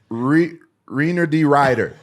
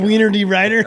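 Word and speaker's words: Reinier de Ridder: It's Reiner D. Ryder. Oh my God. Wiener D. Ryder?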